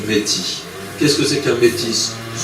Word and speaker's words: métis: Et quand je dis métis, je prononce le S, alors que peut-être, pour être plus authentique, je devrais dire du métis.